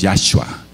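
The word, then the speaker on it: Yahuah: en en chino etcétera Por qué no esforzarse para pronunciar el nombre del verdadero Salvador de Israel y del mundo y su nombre es yahua y nadie lo puede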